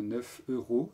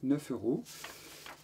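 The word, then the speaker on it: neuf euros: Prononcez bien 9 euros. 9 euros.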